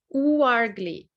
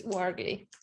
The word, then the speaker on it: Ouargli: last name oh it's wargly waggly yes because in french o and u is uh sound so yeah and uh so it's wargly wow awesome cool all